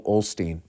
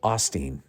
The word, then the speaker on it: Osteen: Joel Osteen goes down I've been calling him Joel Olsteen you guys never corrected me and maybe thought I was just deliberately saying his name wrong but I thought there was an L in there Joel Osteen uh the